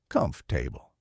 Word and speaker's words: comfortable: Comfortable sounds like comf-table.